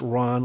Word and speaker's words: Rohn: jim rohn r-o-h-n and it's pronounced ron like khan k-o-h-n uh he was one